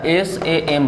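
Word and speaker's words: psalm: शाम पढ़ रहे हैं, तो इसमें P और L साइलेंट मोड में रहता है, तो SAM बचा, तो शाम लिखेंगे। समझ गए बाबू, शाम बोलेंगे, लिखेंगे PSLAM, लेकिन पढ़ेंगे SAM, कोई दिक्कत।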